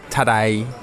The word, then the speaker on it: Tadej: Pogačar's team yesterday that his first name Tadej is basically pronounced like today in a Cockney accent. Tadej.